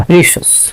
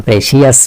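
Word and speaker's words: precious: প্রেশাস, প্রেশাস মানে মূল্যবান। প্রেশিয়াস না, উচ্চারণ প্রেশাস।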